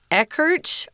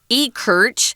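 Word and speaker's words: Ekirch: thought well that's gotta be um eckerch or you know that was a guess but like we always say on these programs especially with the names from america never assume you know how to pronounce it it's somebody's name so they can they can tell you to pronounce it in any wacky way they want to it's their name um and he pronounces his name e kirch i looked him up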